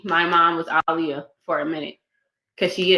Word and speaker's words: Aliyah: Her name is Aliyah. That's how you say my mom's name. That's how you say her name. Okay. To the freaking Leah. Okay. Like Muhammad Ali.